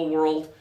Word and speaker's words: world: I've traveled around the world and I loved Turkey okay so try it as two syllables world let's start with the first syllable were old world slow it down yeah